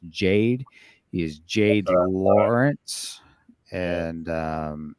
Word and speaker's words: Jade: I believe his name is pronounced Jade.